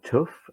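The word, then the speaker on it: TÜV: teach functional safety so you either go to to UV or tough as it's pronounced in German so TUV or TUV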